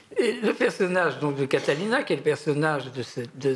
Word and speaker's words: Catalina: Catalina, en plus.